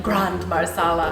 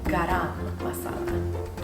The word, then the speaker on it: garam masala: My mom was saying it wrong, so I have to like relearn how to say it. It sounded like Grand Marsala, and I was like, oh wow, that's like pretty fancy. Garam Masala. Okay.